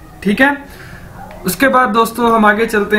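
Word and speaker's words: 好: है, ये है HAO, हाउ। इसको कैसे बोलना है आपने, हाउ। जैसे इंग्लिश का वर्ड है हाउ, कैसे, तो इस तरह ही आपने इसको बोलना है हाउ।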